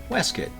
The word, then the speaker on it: waistcoat: The way that the word waistcoat is pronounced Westcott in England.